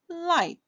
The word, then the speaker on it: light: I G and H together when it's in the middle of a word it is silent.